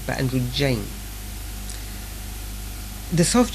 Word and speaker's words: androgyne: Still not Andrew Gang, but Andrew Jane. The soft G is definitely right. There's no question about that. It's definitely a J sound and not a G sound.